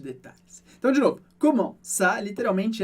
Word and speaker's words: ça: A gente tem a palavra ça, que significa isso, e aqui você percebe que o C cedilha em francês tem exatamente o mesmo som do português, sempre se. Por isso, comment ça?